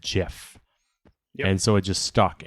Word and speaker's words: GIF: if i'm not mistaken every instance of english words where you have gi the g is soft so if you're an